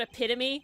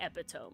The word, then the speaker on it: epitome: It's like he knows the word epitome, but if he saw it written down, he'd say epiome, you know.